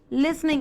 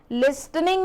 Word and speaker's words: listening: बेटा आप कई बच्चे इसको लिसनिंग, लिसन को लिस्टन बोलते हो, ठीक है। लिस्टन कोई वर्ब नहीं होती, ये टी जो होता है वो साइलेंट होता है, लिसनिंग बोलते हैं इसे, ठीक है।